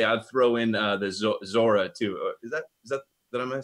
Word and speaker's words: Zohar: And I would say I'd throw in the Zora too. Is that I'm saying it right? Yeah, we did a show or two on Kabbalistic Zohar.